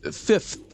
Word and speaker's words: fifth: Well, fifth. You do typically pronounce the th. It's not just fifth. It's a subtle thing, but it sounds different if you just pronounce it as f.